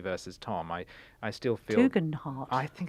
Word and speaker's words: Tugendhat: You know, it's Tugendhat.